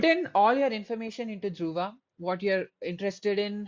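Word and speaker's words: Druva: Uh, code name Duva. D R U V A. I removed the H because it's easier to pronounce for people not in India because they have trouble pronunciate pronunciating D.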